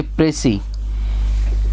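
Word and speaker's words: précis: एक इंपॉर्टेंट मैंने फैक्टर ये बोला, ये जो है आपका फ्रेंच वर्ड है, इसको प्रोनाउंस करेंगे जैसे PRASEE, ऐसे प्रेसी। इसको बहुत से लोग प्रेसिस बोल देते हैं, ये प्रेसी राइटिंग होता है।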